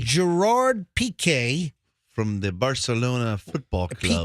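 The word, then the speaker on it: Piqué: that her long time love Gerard is it PK is that how you say his name yeah PK Gerard PK from the Barcelona football club okay as in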